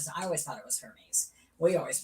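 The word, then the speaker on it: Hermès: it I can't see Hermes Hermes it's her probably yeah long e yeah I know exactly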